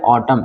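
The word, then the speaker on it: autumn: जाएगा तो इसको पढ़ेंगे एटम इसको क्या पढ़ेंगे ऑटम साइलेंट हो जाएगा मैडम एंड साइलेंट हो जाएगा मैडम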